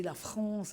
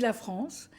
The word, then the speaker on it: France: la France la France il fallait prononcer la France avec un r nous on prononçait avec